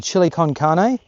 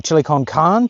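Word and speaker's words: chili con carne: going to have the chili con car or chili kongan depending on how you like to pronounce that um we're going to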